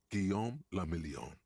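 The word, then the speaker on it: Guillaume Le Million: meant only one thing guillaume lamillion if it doesn't rhyme you're not pronouncing it right fair enough out of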